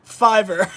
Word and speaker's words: Fiverr: They wrote, "It's pronounced Fiverr."